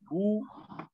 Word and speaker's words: who: There's some words where the W is silent. Who, whose, whom. The W is silent there.